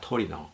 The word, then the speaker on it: 토리노: 튜린은 영어식 발음이며 이태리어 발음은 토리노입니다. 토리노.